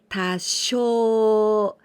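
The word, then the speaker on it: 多少: a little bit this this combination of kanji we pronounce tasho tasho is the synonym of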